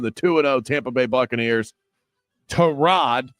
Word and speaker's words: Tyrod: Terrod, not Tyrod. Uh, according to Baker Mayfield, that's how you pronounce the starting quarterback's name for the Jets.